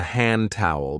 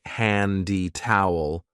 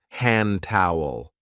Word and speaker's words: hand towel: This is called a hand towel because we use it to dry our hands. And be careful of the pronunciation. We don't usually say handy towel. We link it and we say hand towel.